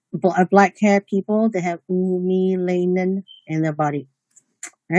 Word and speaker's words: eumelanin: It's pronounced as eumelanin and pheomelanin.